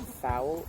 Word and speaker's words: Fowl: The second part of his name, Fowl, sounds like the word foul meaning nasty.